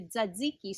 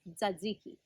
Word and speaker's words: tzatziki: that you might have heard of called a tzatziki sauce that's a lot of teas and z's hard to pronounce for most people but that's how you